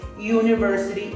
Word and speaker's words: university: university in this case university is pronounced you that's why we arrived at a is pronounced as a consonant university a university now